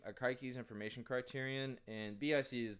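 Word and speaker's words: Akaike: um it stands for akiki i think is how you pronounce this name akaiki's information criterion and bic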